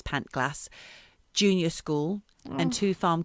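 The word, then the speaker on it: Pantglas: landslide engulfed pant glass i don't know how you pronounce it i believe it's pant glass junior school and two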